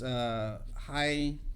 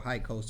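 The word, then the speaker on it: Hyksos: And so they think that this king was a foreigner, and I can't pronounce it quite right, but it's Hykos. Yeah, KOS. Yeah, or KOSO, something like that.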